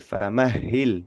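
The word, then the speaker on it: فمهل: Famahhil. Di sini kita berurusan dengan huruf H tapi huruf H-nya bertasdid dan ya gitu.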